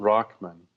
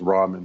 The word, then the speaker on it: Rahman: the death of Gould Rahman some your viewers might think it's Raman but it's pronounced rahman ra h ma n